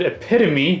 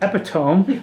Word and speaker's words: epitome: Then what we're going to go over is we're going to go to the contorted epitome, not epitome, like I used to pronounce it.